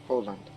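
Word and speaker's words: Öland: That's how it's pronounced. I remember. Oland.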